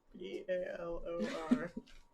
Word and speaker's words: Balor: How do you spell that? B-A-L-O-R. B-A-O-L-R. L-B-A-L-O-R. Yeah. Does that sound familiar to me? Baylor? Balor. So I got a question. There's no Baylor.